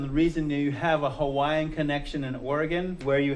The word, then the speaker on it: Hawaii: how they pronounce it w is pronounced v hawaii but hawaii in english